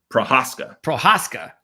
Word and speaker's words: Prohaska: By the way, if how do you pronounce his name? Prohaska.